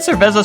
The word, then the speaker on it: cerveza: Oh, you pronounce it as a Z or TH depending on the region, gotcha.